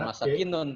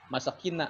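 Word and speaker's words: مساكين: Bukan masakinun tapi masakina kali ya.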